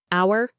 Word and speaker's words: hour: Hour. You only hear hour.